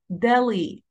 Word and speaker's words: Delhi: Delhi. Delhi. Delhi. And if you notice, لو ملاحظين كلمة حرف ال H هنا silent letter, we don't pronounce it, ما بننطقوش, بنقول على طول Delhi.